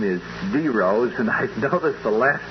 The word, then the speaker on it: Deros: thing, Dominic, you told me that the correct pronunciation is Dros and I've noticed the last 20 minutes you've been saying Daryl.